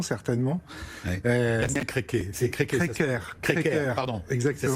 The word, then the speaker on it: Créquer: C'est Créquer. Créquer, pardon. Exactement. Ça s'écrit C-R-E-Q-E-R. C'est pour les Bretons, voilà. Créquer. On prononce comme s'il y avait un accent.